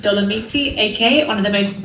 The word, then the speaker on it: Dolomiti: The Dolomites, pronounced Dolomiti, aka one of the most beautiful regions in Italy.